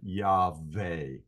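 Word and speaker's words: Yahweh: proper pronunciation of the VAV and I would pronounce it y ve with a V uh sound and I don't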